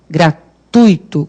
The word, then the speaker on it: gratuito: nem escutar certo porque a pronúncia correta é gratuito como fortuito intuito então o que acontece o que acontece é gratuito lá é um ditongo não é como fluido o ópio aqui cadê